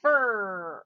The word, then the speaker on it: fur: a little bit but fur er see we only say the er so if you practice